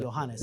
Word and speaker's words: Johannes: Johannes.